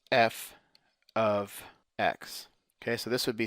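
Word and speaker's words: f(x): MX plus b and the way you say that is you pronounce it as f of x okay so this would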